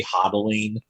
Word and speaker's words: hodling: on for dear life, but they say hodling, like, so like they mispronounced holding as hodling, so it's like a cute little way of like having like a sort of like community.